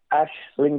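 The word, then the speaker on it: Aisling: Pettis in tough um I have to say it's Ashling daily like like a tree like an ash oh Ash Ashling daily it's just the pronunciation in Irish um yeah uh well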